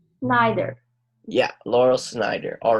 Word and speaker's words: Laurel Snyder: name to the the author's name Lyle Oh Schneider neither yeah Laurel Snyder all right can you also read this maybe